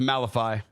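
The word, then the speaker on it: Malevy: Pronounced Malifi.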